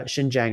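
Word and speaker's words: Xinjiang: gonna say this wrong s Jang is the region uh shinjang I think it's pronounced um but anyways it's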